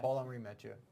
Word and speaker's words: Paul-Henri Mathieu: Paul-Henri Mathieu, I'm guessing is how you pronounce that? Yeah, Paul-Henri Mathieu.